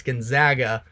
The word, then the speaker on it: Gonzaga: Gonzaga I got um I got some negativity based off of the way that I pronounce their name it's Gonzaga but they should be